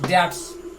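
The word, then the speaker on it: debt: In order to पे his dates, payment अदा करना, चुकाना। डेट, उसमें बी साइलेंट, डेप्ट नहीं बोलते, डेट बहुवचन डेट्स।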